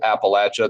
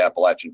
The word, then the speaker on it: Appalachia: And I do pronounce it Appalachia, the Appalachian Trail. That's a southern typical pronunciation.